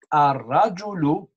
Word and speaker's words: الرجل: Now we are going to do a Lam Shamsiya where we write L, we don't say L, we say A.